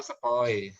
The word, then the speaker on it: sepoi: ini dibacanya ai ya. Oh, sepoi.